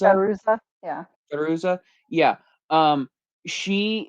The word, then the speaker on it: Fairuza: Um Balk or uh how do you pronounce her name? Fairuza? Fairuza, yeah.